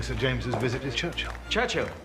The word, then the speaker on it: Churchill: James's visit with Churchill Churchill that's how you say it all together like that I'd heard church and Hill but couldn't find either all I could see